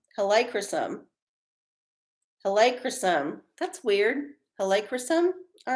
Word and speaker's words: Helichrysum: It's pronounced Helichrysum. Helichrysum.